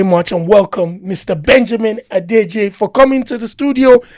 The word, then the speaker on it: Odeje: How did I did I pronounce your name right? And please can you correct us first of all? No, you did. You pronounced it quite right.